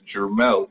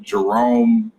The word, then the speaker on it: Jermel: My name is Jermel, Jermell. Their name, Jerome, Jamal, Jermichael. Are you serious? Oh yeah, it's a phonetic spelling. Yeah. It's 2 syllables.